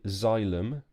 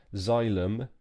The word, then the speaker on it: xylem: this is called a xylem so it's written with an X but it's a bit like a xylophone xylem and this is called